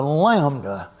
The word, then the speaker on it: lambda: A curved line, and you draw and that is pronounced like the L in look.